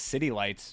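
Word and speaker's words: Zitilites: This was in 2004, so I would assume that that's from this album, Zitilities. Oh, pronounced as City Lights.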